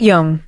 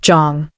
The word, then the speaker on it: Jong: Not Young, not Jiong, Jong. The correct weight on the correct syllable, like she had taken 30 seconds before walking in to make sure she got it right.